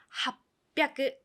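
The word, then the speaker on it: はっぴゃく: 800도 조심하셔야 돼요. 입 다물었어요. 합뼈크 800이 됩니다.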